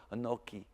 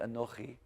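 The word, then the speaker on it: אנוכי: he I know he that one's a little tough I know he but you don't have to pronounce it like that to start with I know he annoys you don't have to pronounce I know he like that right now just go an oaky okay I know he try to get a CH ah an oaky okay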